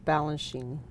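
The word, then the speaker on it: Balanchine: is coming and we do know how to pronounce Balan Sheen we got Balan we got balenine his Muse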